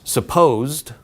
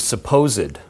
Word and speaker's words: supposed: There are two pronunciations. One is supposed, like posited, and the other is supposed, kind of like, yeah, so you say.